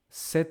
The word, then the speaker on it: cet: Set ordinateur. Set ordinateur that if you hear I pronounce exactly like set set set. No difference.